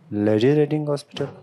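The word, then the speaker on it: Lady Reading Hospital: Paris यनो अच्छा जी आगे क्या है जी लेडी रेडिंग हॉस्पिटल लेडी रेडिंग हॉस्पिटल this लेडी रेडिंग हॉस्पिटल this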